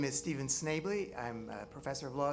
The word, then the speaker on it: Schnably: favor well it's fine all right um Stephen schnably I mispronounced it very close thank you my name is Stephen Snavely I'm a professor of law at the University